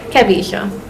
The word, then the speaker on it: Kevisha: Kevisha. Kavisha. Like how you say Kevin, you just take off the N.